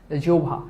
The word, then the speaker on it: জিভা: এবার কবিতা বলতে কি আমরা আমাদের জিভা দিয়ে তোমরা এটাকে অনেকে বলে জিবা এটা কিন্তু জিব্বা না জিভা ঠিক আছে জিভা উচ্চারিত প্রতিটা সত্য শব্দ